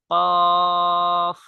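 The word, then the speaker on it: كاف: একদম ক্লিয়ার হয়ে যাবে কাফ হরফের উচ্চারণ বাংলা ক এবং ইংলিশ যে ইংলিশ ইংরেজিতে একটি হরফ আছে কে এগুলোর সাথে হুবহু মিল উচ্চারণের ক্ষেত্রে নামের ক্ষেত্রে ভিন্নতা অবশ্যই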